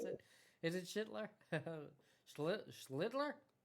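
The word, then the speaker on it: Schlittler: Um, Chitler, I got Is that how you pronounce it? Is it Shitler? Schlitler. You're going to be saying his name right soon. Well, how do you say it? Schlitler.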